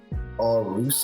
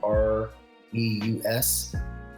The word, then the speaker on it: AuREUS: I think his name was Carey, begins with an M, but he discovered the Aurus, I think it's pronounced. It's Aureus.